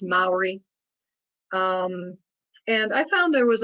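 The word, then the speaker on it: Māori: corrected very quickly when we started calling it memory so it is pronounced Mallory and I found there was a large Maori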